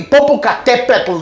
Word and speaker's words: Popocatépetl: The country might be Popocatépetl. That's the way you have to pronounce it.